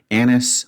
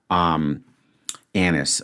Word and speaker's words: anise: Anise would have been very silly. Anise. Let's just quickly check the pronunciation on that.